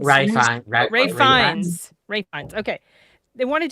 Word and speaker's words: Ralph Fiennes: Ralph Fiennes. Ray Fiennes.